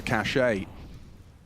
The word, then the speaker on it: cachet: a little uh extra cachet or VSM I think it's pronounced cash excuse me I've got